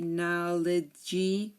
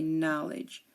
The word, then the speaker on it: knowledge: we say judge and we don't say knowy we say knowledge okay so here the D is silent um and remember uh